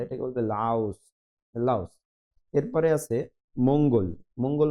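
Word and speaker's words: 라오스: আছে লাউস মানে লাউস রিউলটা শুরুতে থাকলে কিছুটা র আর ল এর মাঝামাঝি উচ্চারণ করে থাকে কোরিয়ানরা এটাকে বলবে লাউস লাউস এরপরে আছে মঙ্গল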